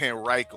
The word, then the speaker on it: Henrico: That's how you say it, Henrico. I keep on saying Henrico. That's what a lot of people say, and that's how like people here, we know those people are not from here, because when we